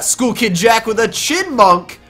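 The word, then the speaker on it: Chyinmunk: We got School Kid Jack with a Chinmunk. Remember, the Y is silent.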